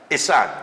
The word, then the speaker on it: Ihsan: I got the pronunciation correct? It's Ihsan, yeah. Ihsan?